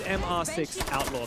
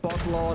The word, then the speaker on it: MR6 Outlaw: So it's not Botlaw, not Mr. It's not Mr. Botlaw, it's not Mr. at all. It's MR6. They say it in Portuguese. They spell out the letters and numbers.